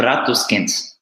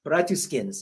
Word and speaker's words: Bratuskins: Did I pronounce that correctly? Yeah, it's Bratuskins. Bratuskins, okay.